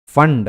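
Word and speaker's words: Pfund: फंड है ना, इसको कुछ लोग पी फंड भी बोलते हैं, लेकिन पी साइलेंट रहता है उस पर, ठीक है।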